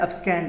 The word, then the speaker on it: abscond: अब्सकॉन्ड देखो एक्चुअली इसका प्रोनाउंसिएशन क्या है, अब्सकैंड है, स्कैंड यानी सेकेंड है ना।